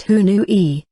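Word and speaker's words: huñuy: mindfulness kaiuchi center ether kunui pronounced who knew e which means to join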